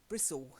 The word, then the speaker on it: Bristol: So from Nottingham to Bristol, suddenly the pronunciation changes dramatically. Bristle instead of Bristol, Okay. and everything ends in ul.